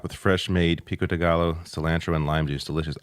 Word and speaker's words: gallo: Pico de gallo. I can't eat pico de gallo, though. Pico de gallo, yeah. Yeah, you don't pronounce That's right, the L's you don't pronounce.